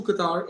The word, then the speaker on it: Qatar: In Qatar. Yeah, This is how we say Qatar. Qatar. You don't say it like an American. Say it the right way.